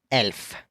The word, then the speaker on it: elf: 11 being elf. Elf, similar to elf, but kind of like an e a sound.